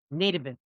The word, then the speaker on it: nativist: Nivist. There we go. My brain was I'm like, that's not how you say that. It's a long a not a short A.